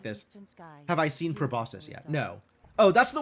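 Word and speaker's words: proboscis: In the middle of a probosus run. Nice. Is that C actually pronounced? Wait, wait. How do you pronounce this word? Probosus. Both are valid. Both soft sea and hard sea are valid.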